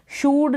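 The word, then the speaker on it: should: फिर एस एच को श, एस एच का श उच्चारण होगा। ओ यू को ऊ यानी छोटे ऊ के रूप में, एल साइलेंट होगा और डी को ड, शुड हो गया। शूड नहीं पढ़ेंगे, शुड, क्योंकि शॉर्ट यू है ना, इसलिए मतलब छोटे यू के रूप में इन स्पेलिंग्स में डबल ओ को, ओ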